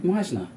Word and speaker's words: Meissner: person has put it right consistently well done Meisner yeah yeah if you say of German origin